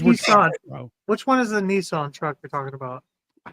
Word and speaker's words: Nissan: Nissan. That's actually the way it's pronounced.